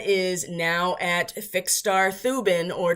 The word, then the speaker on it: Thuban: But asteroid Vesta is now at fixed star Thuban, or Tubin if you want to use the pronunciation that most Eastern Indians use when they pronounce a TH, because they don't.